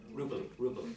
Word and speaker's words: Rupel: Rupel, yeah, sorry, apologies for my pronunciation.